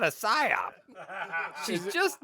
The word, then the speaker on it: psyop: You know why you can't hear the psyop in the bathroom? Because the P is silent. Yeah.